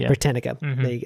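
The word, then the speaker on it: Britannica: don't know how which one that goes branica britanica that's how you say it so just um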